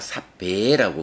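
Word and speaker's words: sabbe: 발음해 줄 때, 그때는 요 삽바도 그 척격이란 격을 같이 가져서 삽바가 아니라 삽배라고 발음이 돼요.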